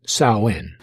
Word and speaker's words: Samhain: is known as samhain now the pronunciation is different uh from what i found on the internet they pronounce that so in i don't know how you get samhain as sewing well because the word cell in is from irish gaelic and not english but supposedly these these